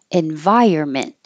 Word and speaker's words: environment: farm farm fresh eggs environment we don't say the end at all it looks like environment but we don't say it envy your environment hold